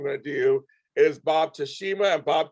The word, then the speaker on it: Teshima: to do is bob tashima and bob teshema how you doing bob doing great james and uh you're correct that uh the first one is the correct pronunciation second more anglicized here but that's how